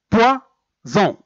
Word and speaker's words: poison: Donc, pour un seul S, on peut trouver par exemple poison. Poison. Même si S il est entre deux voyelles, même s'il est entre I et O, normalement, on doit l'écrire